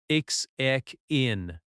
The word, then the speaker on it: check-in: check in check in Stress on check. check in This can be a noun or a verb. Example, where is the check-in counter? Slow, where is the check-in counter?